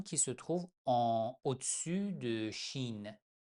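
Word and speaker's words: ش: La lettre suivante, Shin, on prononce tout simplement Che, c'est H.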